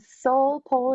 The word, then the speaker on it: Seoul Pole: And Soul Pole, it's spelled Seoul Pole, a K-pop pole show on March 23rd.